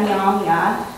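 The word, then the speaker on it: Myaamia: So, I said that also I was Miami, although in our language we pronounce that Nyamya, and that I'm also from Fort Wayne, which is Kikayongay to us.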